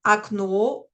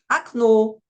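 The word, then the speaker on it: окно: Alors, premier point, cette règle n'est pas fausse, car ça marche bien avec des mots comme akno ou balshoe. Mais ce serait quand même mieux de préciser que cela ne marche que si le O est juste avant l'accent tonique.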